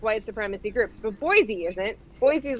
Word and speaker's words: Boise: They pronounce it Boise. Okay, it's pronounced Boise. Oh, really? It's not Boise.